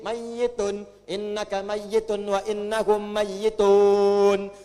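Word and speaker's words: ميت: Pakai tasdid. Mayyitun.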